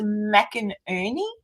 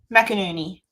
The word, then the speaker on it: McInerney: His name is pronounced McInerney. Mac and cheese. McInerney.